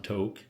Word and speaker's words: Tok: I think some people pronounce it Tok, some Tok. It's spelled T-O-K.